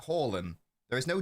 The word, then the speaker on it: Haaland: Haaland. There is no D. Haaland. It's a soft D. You don't pronounce it.